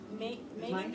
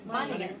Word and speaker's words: Meiningen: I don't have a hard time pronouncing those names. Where? Meiningen? Is it Meiningen? Meiningen.